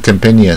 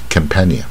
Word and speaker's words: companion: ，重点就是，你看 companion 是它的重点在这个 at companion，那 company 重点在这啊 company，